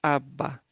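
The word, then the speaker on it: אבא: Então, esse Aleph é mudo, então vai a vogal aqui. Essa vogal é um patá, é uma vogal breve, é um A breve. Então, aba.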